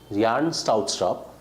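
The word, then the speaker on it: Bjarne Stroustrup: Yarn Strautstrup, the V is silent, okay? It's Yarna Strautstrup.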